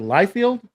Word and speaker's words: Liefeld: I think Lifield is his his pronunciation of his name.